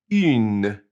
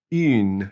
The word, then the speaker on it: une: And the other way is une. And since it has an E, now we pronounce that in une. So un and une.